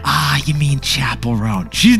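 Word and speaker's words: Chappell Roan: tide and finally who could forget this singer Chappelle ran ah you mean Chapel rone she's not going to be happy about that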